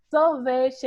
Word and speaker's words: sorvete: seu momento então fale sorvete aí a sílaba tônica seria quem sarah já disse para gente que é o ver né pronto ela já